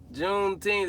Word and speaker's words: Juneteenth: Juneteenth, that's how you say it.